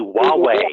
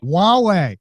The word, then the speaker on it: Huawei: Wait, we now have a pronunciation correction. We do? It is Okay. the Huawei. Huawei.